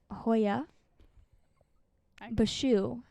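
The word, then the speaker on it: Hoia Baciu: bashu forest in romania say that again hoya bashu i looked that up that's how you say it yes so in romania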